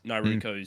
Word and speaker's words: Nyaruko: It's an anime character, and you don't pronounce the O.